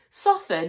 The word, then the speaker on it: soften: Soften has a silent T.